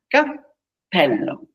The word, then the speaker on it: cappello: Imagine you pronounce the P sound and you count 1. Cappello.